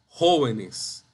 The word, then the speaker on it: jóvenes: Jóvenes, no jóvenes, ni jóvenes, ni jóvenes, ni jóvenes, es jóvenes.